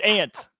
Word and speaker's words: aunt: I know there's a U, but it's silent. It's aunt.